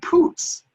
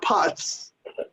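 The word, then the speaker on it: Putz: their names for example it's jj puts not putts and it's john figgins not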